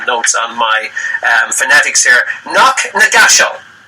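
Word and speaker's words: Knocknagashel: Knock Nagashal. How about that? Is that pronounced that right, Jill?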